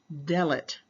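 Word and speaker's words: דלת: with entering all right the Hebrew word for door is spelled exactly the same as the fourth letter doet but with the different sound of delet all right which is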